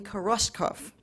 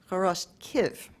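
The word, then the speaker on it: Хоростків: our introducer said, in Koroskov, in what was then Galicia, subsequently Poland, and is now Ukraine, where it's pronounced Koroskiv.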